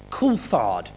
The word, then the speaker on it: Coulthard: And David Coulthard, of course, insists on having his name pronounced Coulthard.